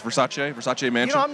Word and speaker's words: Versace: at the versace versace apparently it's versace i did not know but it's versace versace no i'm not